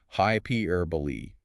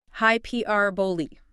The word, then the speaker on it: hyperbole: The common mistake is failing to sound the final e. People treat it like the silent e in table. However, hyperbole is a four-cllable word. It's pronounced hyperbole with that final e clearly sounded out.